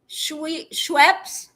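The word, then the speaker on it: Schweppes: It was founded in 1783 by a Jacob Schwep. Schwep. Is it schwep? Schwep. How would you even say it? You can spell it out for me. Scooby says ginger ale. It's Schweps. Schweps. Ginger ale.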